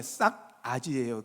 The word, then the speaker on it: 싸가지: 싸가지가 있다 그러는 거거든요. 예. 싹이란 뜻은 이게 발음을 정해 싹 아지예요.